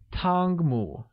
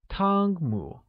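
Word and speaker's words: 汤姆: and Tom translates as tong mu Tong mu is said with a high level tone on a and amid rising tone on you great now let's take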